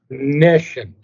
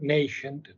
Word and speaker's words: nescient: Nescient, not nascent, but nescient.